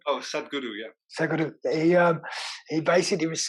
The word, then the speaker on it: Sadhguru: I was watching a thing with Sagradoo. Is that how you pronounce his name? Oh, Sadhguru, yeah.